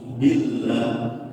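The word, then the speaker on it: بالله: Za ta'udzu billah, ketika lafaz Allah diiringi dengan kasrah maka dibacanya wajib tarqiq. Tarqiq itu artinya tipis. Billah, jangan sampai billah, jangan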